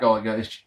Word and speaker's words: Gallagher: And Jack Gallagher. I've got to stop doing that. The second G is silent, I've been informed tonight.